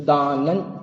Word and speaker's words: दानं: तो जो अनुस्वार के बाद जो वर्ग का अक्षर होगा उस वर्ग का पंचम वर्ण का उच्चारण आएगा। तो चूंकि दान के बाद च था तो च छ ज झ ञ, तो य के हिसाब से दानन चेति गृहस्थानाम ऐसा है।